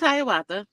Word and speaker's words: Haya: name came to be my name's Haya and I have friends who cannot pronounce Haya so I have one particular friend's husband who used to always say here comes hakak I told him I'm